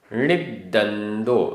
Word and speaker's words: णिद्दन्दो: जो देहे देहे निरवेक्षो आधा क ख निरवेक्षो निरवेक्षो णिद्दन्दो आधा द पूरा द णिद्दन्दो णिद्दन्दो णिम्ममो आधा म